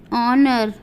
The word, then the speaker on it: honour: अगर किसी स्पेलिंग में H किसी vowel A E I O U के पहले आता है तो वहाँ H का उच्चारण नहीं किया जाता है।